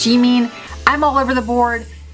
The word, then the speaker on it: Jimin: apple she means jimin many people say gemin i think the proper korean pronunciation is g-mean i'm all over the